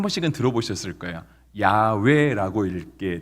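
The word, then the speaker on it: יהוה: 어 그렇게 갖다 붙였어요 근데 실은 이제 또 그쪽 언어로만 보면은 야외라고 하는 발음보다는 이렇게 야배 아고 이렇게 비읍 받침으로 읽는게 조금 더 맞을 것이 다라고 이렇게 언어 자들이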